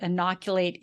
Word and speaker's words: inoculate: So that's another way that inoculate is used, is to protect somebody. Here's the pronunciation for it, broken up into, it's got 4 syllables, and you would put the emphasis on that second syllable, which is why you